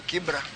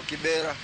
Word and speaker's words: Kibra: Koro that's the originality of it. but mane okuche obiro to gi jok mamoko to pronunciation no change from Kibra to Kibera. But sani no bedo rectified oduoke kuom Kibra.